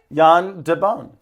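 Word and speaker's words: Jan de Bont: yand Deon yeah did I say it right Yan Deon okay great yeah famous Le the cinematographer of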